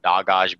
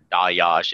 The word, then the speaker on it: Dagaz: in the order of Dagaz being the third rune, or Dayaj, it can be pronounced either way.